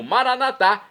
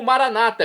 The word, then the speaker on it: Maranata: let de Jesus eu clamo maranat como dizemos nós católicos ou Maranata como dizem nossos irmãos separados os evangélicos ou protestantes não importa pronúncia o significado